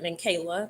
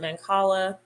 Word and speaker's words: Mancala: how to play Mancala I used to pronounce that man Kayla but most people pronounce it Mancala um we did my